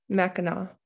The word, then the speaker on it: Mackinac: the straits of mackinac mackinac is how we pronounce that mackinac the straits connected lake